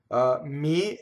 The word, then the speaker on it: mi: So mi is one of them. Lo, li, le, la. All of those are weak monosyllables. They do not double.